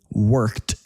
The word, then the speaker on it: worked: Now, sometimes in American English, an e d ending can sound like a t. Look at this. He worked all weekend.